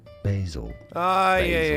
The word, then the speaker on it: basil: Because you're pronouncing ba instead of bay, Bay.